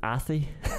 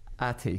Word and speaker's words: Athy: I'm just laughing at how I was reading the pronunciation in your notes. So I was reading it Athy. Athy beats Selbridge. Atty. Jeez, that's a disgrace. You don't know a tie.